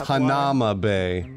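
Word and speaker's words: Hanauma Bay: So let's go to, like, Hanama Bay or whatever. It's Hanama Bay.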